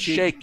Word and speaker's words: sheik: Oh, sheik. So he's a sheik, yeah, but it's shake your booty because you pronounce shake when you're in the Emirates.